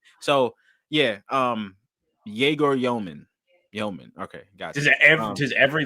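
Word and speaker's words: Demin: So I've heard Yegor's last name, like the pronunciation has changed now. Yeoman, right?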